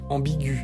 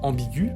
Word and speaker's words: ambigu: Parce que dans ambigu, on ne place pas le tréma pour signifier qu'on prononce le E. Le E est muet ici. Mais on pose le tréma pour prononcer le U, qui est placé en première position.